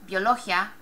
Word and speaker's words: biología: Remember what we said. This should be one syllable. Biología. Ends in a vowel. Emphasis should be here in this area. But we don't say biología, or do you? Biología, biología, biología, biología. It's definitely biología.